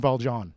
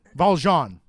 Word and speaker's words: Valjean: It's Valjon. Valjon. Valene. Sure. Whatever you want. I always pronounce the names very French and people get mad about names.